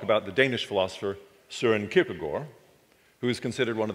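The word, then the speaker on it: Kierkegaard: the first is pronunciation in english i know it looks like it ought to be kirkegaard but in danish it's pronounced kierkegore and i want to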